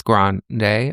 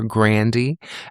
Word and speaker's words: Grande: as a fan of Miss Grande or Grande as her last name is actually pronounced.